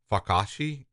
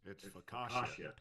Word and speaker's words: focaccia: Fakashi? I'm sure it's not that right. I don't know. Nice, Darren. It's focaccia. Focaccia.